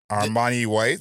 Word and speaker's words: Armani White: this project let me not to get his name wrong Armani white there you go um I was call Armani